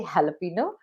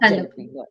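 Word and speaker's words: jalapeño: are ordering a pizza say jalapeno not jalo okay I always pronounce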